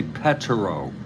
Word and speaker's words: perro: In other words, the word perro, P-E-R-R-O, dog, I think that means dog. They used to tell us just say petero, real quick, P-E-T-E-R-O. Pronounce it phonetically like that.